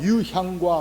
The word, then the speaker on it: 유향: 저는 유황이라고 발음을 했는데 유황이 아니라 유향입니다. 자, 황금과 유향과 몰약이라고 하는 이 세 아이템을 가지고 이 사람들이 주를 예배하러 왔다고 하는 것입니다.